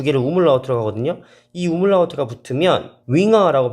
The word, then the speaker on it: Jünger: 붙으면이 점 두 개를 우물라우트라고 하거든요.이 우물라우트가 붙으면 윙어라고 발음이 되면서 제자라는 명사가 됩니다.